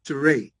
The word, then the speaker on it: Teray: the way uh uh my name is pronounced teray that's like huray with a t Tay